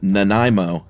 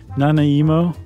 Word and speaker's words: Nanaimo: it was Josh had the most hilarious unique pronunciation of uh well I think it's the Nanaimo cookie is correct right yeah what did you say nanay emo okay well you it's got a Japanese Flair